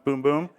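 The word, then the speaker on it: Bum Bum: so you have the boom boom cream that's how you say it it's not bum buom it's boom boom we have that in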